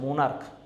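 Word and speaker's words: monarch: যেমন হচ্ছে stomach, stomach, দেখো স্টোমাক, ক আসে উচ্চারণটা, স্টোমাক হচ্ছে মোনার্ক, হ্যাঁ সিএইচ আসে কিন্তু কর মতো উচ্চারণ আসে মোনার্ক, এরকম আসে।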